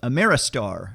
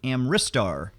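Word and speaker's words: Amritsar: bit hard to pronounce I keep wanting to call it Ameristar but it's actually amristar a chunky heavy worker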